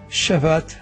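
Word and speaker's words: שַׁבָּת: Se encuentra la palabra Shabbat que da la idea obviamente de cesar y terminar la palabra original Shabbat y se pronuncia como lo acabo de mencionar.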